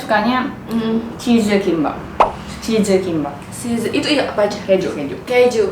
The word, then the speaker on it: Lee: Lee Min Ho kan I kan panggil, kalau Lee itu kan dibacanya I, nggak Lee.